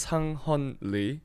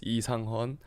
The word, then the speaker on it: Sang-hon Lee: So my name is Sang-hon Lee, or you can say in Korean it's Lee Sang-hon.